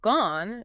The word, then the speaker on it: gone: bed or send, or, and the past participle, gone, changes its vowel significantly. In American English, it often rhymes with aunt or dawn.